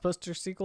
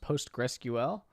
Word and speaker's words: PostgreSQL: it supports my sequel most people just say postgres but this is pronounced sqlite this is pronounced my sequel this is pronounced postgresql but it is not pronounced poster sequel is pronounced post rescuel well if i was